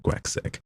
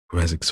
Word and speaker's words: Graczek: Captain Grazek, I'm going to pronounce it like Grazek. It's spelled Graczek.